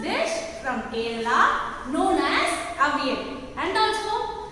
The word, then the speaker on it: Avial: This is how you have to pronounce the word. A-V-L. You have to pronounce the word as Avial.